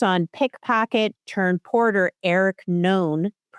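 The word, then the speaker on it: Noone: So the plot centers on pickpocket turned porter Eric Known. His name is spelled N-O-O. It's spelled N-O-O-N-E, as in like no one.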